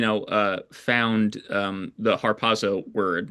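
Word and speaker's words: ἁρπάζω: The idea actually comes from a Latin translation of uh the Greek word harpazo. Harpazo is how I pronounce it. And I hope I'm pronouncing it right.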